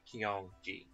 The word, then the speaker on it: Kyongji: Anyway, Tsujikaze, Kyogi, Kureyu, Keichin, Kyongji, and that's just pronounced Kyong, as in Ki-ong, like the English word Ki, just with that ong on the end, so Kyongji.